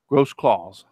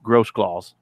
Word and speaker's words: Grossclaws: Grossclaws is how you pronounce his name. It's a weird spelling, but it's pronounced Grossclaws. Trust me, I know that. And that's one I can get right because he's told me how to pronounce it.